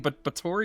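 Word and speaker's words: Báthory: with Elizabeth Bori is called, you keep saying Bator. Is that correct? It is the correct pronunciation.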